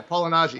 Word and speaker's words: Malignaggi: Yeah, Malignaggi.